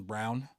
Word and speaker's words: Braun: And they got, that kid Christian Brown, spelled like yes, Braun, but it's Brown.